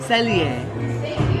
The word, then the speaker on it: Cellier: Cellier.